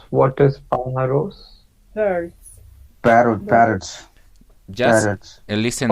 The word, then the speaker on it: pájaros: Just listen my pronunciation is pájaros, because you're gonna see in the first we have tilde, and it is that we have to increase the voice in that side.